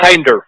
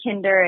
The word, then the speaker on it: Kinder: So Kinder. Lots of people say Kinder. It's like definitely looks how it's pronounced, but the goal is that it's the kindest dog food on the market.